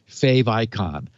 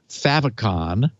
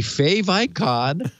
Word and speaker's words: favicon: stand yes yes a a fave icon is a contraction of favorite icon so no i am